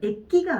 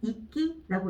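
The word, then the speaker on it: 域: 액기가 아니죠. 이끼라고 읽어줘야 되겠죠.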